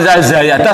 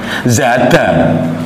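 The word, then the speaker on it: زاد: Walaupun Anda bilang zayada salah, harusnya apa? Zada.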